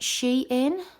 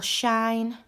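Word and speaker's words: Shein: from a shop called depending on how you pronounce it she in or shine um s-h-e-i-n it's online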